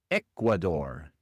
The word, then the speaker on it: Ecuador: En inglés, Ecuador se pronuncia Ecuador. Ecuador. Las únicas dos diferencias son, primero la r al final es una r inglesa y no española. No es Ecuador, sino Ecuador. E Ecuador. Y la otra diferencia es que el acento va en la primera sílaba.